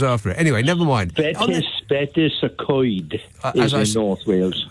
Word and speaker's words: Betws: Is it Betis? BETWS or something like that? W in Welsh is pronounced ooh.